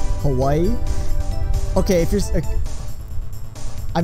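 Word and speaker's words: Hawaiʻi: the way I stand with the W in Hawaii the W is turned into like a V sound so it's more like Hawaii but there's actually supposed to be what they call an oak kina which is like an apostrophe between the eyes so it's actually spelled hawa e like that and what that little apostrophe does it kind of gives emphasis in other emphasis on the next vowel so it's like hava e but that's yeah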